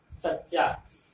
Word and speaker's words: सच्चा: सच्चा, इसका उच्चारण कैसे होगा? सच्चा, स पर बलाघात, यहाँ स्ट्रेस देना है।